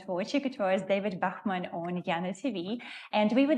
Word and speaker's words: Bachmann: Ah, Bachmann.